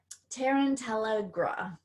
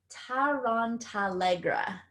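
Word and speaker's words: Tarantallegra: say this wrong for you Harry Potter fans, Tarantella. It's a charm used to force another person's legs to begin dancing uncontrollably, and it's an incantation. Oh, sorry, I said it wrong. Tarantalegra, and it forces the victim to dance wildly.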